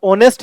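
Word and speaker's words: honest: so everyone trust her अब ऑनेस्ट है एच से शुरू हो रहा है लेकिन साउंड किसका आ रहा है ओ का आ रहा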